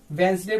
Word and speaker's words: Wednesday: ठीक है, डी के बाद एन आया इसलिए यहाँ पे डी साइलेंट है, इसको वेंसडे पढ़ेंगे।